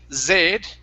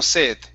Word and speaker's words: sed: All right, so when you say that, okay, when you pronounce that S, you don't say zed. If I said yo tengo zed, that wouldn't sound right, right? I would have to say sed. Tengo sed, right?